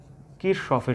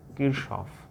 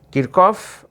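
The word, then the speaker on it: Kirchhoff: এটা দুইভাবেই উচ্চারণ করা যায়, কিরকফ অথবা কিরশফ, দুই রকম উচ্চারণ করা যায়। তো আমাদের বইগুলোতে বাংলায় কিরশফ বলা আছে, আমরা অনেক আগে পড়েছিলাম কারশফ, তবে কারশফ উচ্চারণটা পুরোপুরি ঠিক হবে না, কিরশফই ঠিক আছে, অথবা কিরকফ। তো কিরকফে প্রচলিত না বাংলাদেশে,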